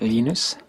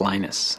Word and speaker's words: Linus: I speak Swedish it's lenus when I speak Finnish it's lenus when I speak English it's lonus and I really don't care how people pronounce my name but Linux is always